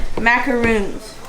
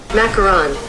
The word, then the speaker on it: macaron: We're going to be testing our baking skills and trying to make macaroons. Are you sure that's how you say it? Macaron.